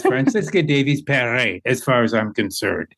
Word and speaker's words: Franziska Davies-Perret: So it's Franziska Davies-Perret, as far as I'm concerned.